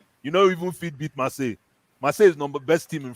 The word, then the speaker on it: Marseille: First of all, you don't even have Champions League, and second of all, Marcel. How do you pronounce the team? Marseille.